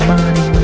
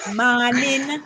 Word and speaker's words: mawnin: or Saturday Saturday morning morning without the g m a w n